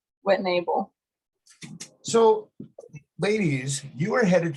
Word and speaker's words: Whittnebel: me uh this morning sisters Addison and Kylie whitnepple morning ladies good morning correct me on my name if I'm wrong there but how do you phonetically say your last name what enable so ladies you are headed to the National